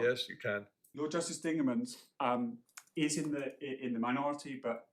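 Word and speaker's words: Dingemans: Of course, it's correct to say my learning fan is going to tell you Lord Justice Dingerman's am I pronouncing that correctly?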